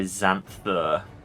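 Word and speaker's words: Xanthir: Zan thur and theu it's so weird to hear the actual VA say zanther like why is there an i there if you're going to pronounce it like that anyway also I like how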